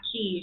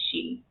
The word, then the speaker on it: Kyi: she sweet it's pretty the last name is spelled kyi but it's not it's not kid she think it's she um former leader of